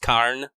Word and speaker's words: Karna: dominant dialect in Indian the trailing a is is silent so you don't say at the end of karna it should be just carne by her silent vowels dude